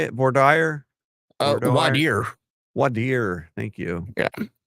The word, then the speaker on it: voir dire: Wadir. Thank you. Yeah. It's some people pronounce it.